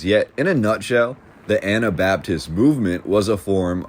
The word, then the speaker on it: Anabaptist: younger days I remember I used to mispronounce this as anti Baptist movement and I remember once I was sternly corrected and told that is not what that means yet in a nutshell